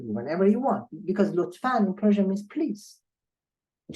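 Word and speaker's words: لطفاً: In fact, you don't see a nun here. There is not a notion of a nun here, but there is a pronunciation of nun here. It means lutfan will be pronounced word by word like that. Lutfan. That is the pronunciation, not the way we write.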